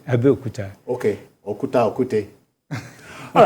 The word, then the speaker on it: Abeokuta: You are from Abiokute. That's not the correct pronunciation. Okay. Abeokuta.